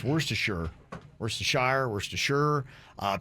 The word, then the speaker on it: Worcestershire: that's the thing is there are three pronunciations of worcestershire and i think that's